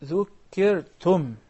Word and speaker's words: ذُكِّرْتُمْ: When you stop at the word ذكرتم, make sure that you pronounce and you utter really the letter ميم by collapsing your lips, because you know the articulation point of the ميم أم, right? Yeah. So you say أَإِن ذُكِّرْتُمْ.